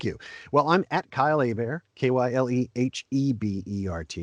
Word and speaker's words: Hebert: well i'm at kyle a bear k-y-l-e-h-e-b-e-r-t it's spelt like hebert but it's pronounced a bear it's a louisiana name so at kylie bear